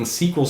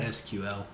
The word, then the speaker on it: SQL: Microsoft is bringing SQL Server to Linux, which is a holy shit moment for a lot of network guys. That's how that's pronounced? I always call it SQL.